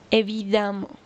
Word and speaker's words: évidemment: Notez que dans les deux cas, on va prononcer a bruyamment évidemment.